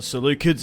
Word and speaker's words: Seleucid: starting the war against the solids or the salid if you will that's how they're actually meant to pronounced but I'm going to say solids it's kind of like